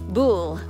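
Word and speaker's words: Buhl: is this is near bull or buell b u h l what does that pronounce bull bull so jeff says i'm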